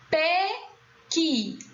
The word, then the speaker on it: pequi: Pequi. Qual é a sílaba tônica? Qui. Então, na dúvida se pequi é escrito com E ou I, primeiro constatamos que a sílaba tônica é a última.